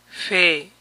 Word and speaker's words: February: Febrero, February, February, February. Es más común de esta manera, obviando la primera R. February, February, February.